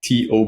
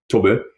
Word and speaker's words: Tob: team yeah well to his name is written t o b and we pronounce this to and everybody calls him Toby because like that's what